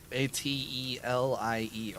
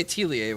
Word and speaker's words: atelier: phonetic I've I'd say atlier and then I've had people go you why don't you pronounce it the way it's supposed to because it's a French word so because I'm reading